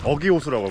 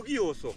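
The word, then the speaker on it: Ögii Lake: 여기는 그 몽골의 어기호수라고 합니다. 어기호수. 몽골 발음으로는 우기라고 하나요? 우기호수. 우기호수. 네. 원래 우기호수라고 얘기해야 맞는 거거든요.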